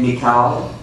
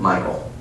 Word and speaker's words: Michal: I don't care if you call her name Michal. I don't care if you say it's Mitchell. The bottom line is, this is his wife, and I'm going to pronounce it Michael.